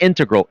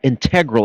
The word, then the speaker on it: integral: Pronunciation, not integral, integral. It's so elegant the way you say it. The pronunciation. Integral. Yeah. Really? Right? You like that? Versus. Integral. Oh, yeah, I mean you can pronounce it both ways.